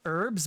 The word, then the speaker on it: herbs: I say herbs because I'm Canadian and I'm on the French part of Canada where usually they drop the H. They don't pronounce the H's in front of things.